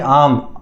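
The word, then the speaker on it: arm: अ आम के ऊपर आम वह मैंगो वाला नहीं आर्म ए आर एम आर्म आर silent होता है आर्म बोल दो नहीं तो हां तो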